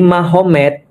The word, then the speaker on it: Magomed: Kalau kita tahu artinya ma berarti di sana Muhammad jadi Mahomed. Jadi tulisnya Magomet tapi bacanya Mahomed kan gitu kan ya.